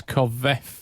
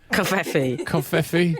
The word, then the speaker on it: covfefe: With his tweet that mentioned constant negative press covfefe. Covfefe. You say covfefe. Covfefe. Covfefe. I say Gaddafi. Covfefe. I feel like the E is silent.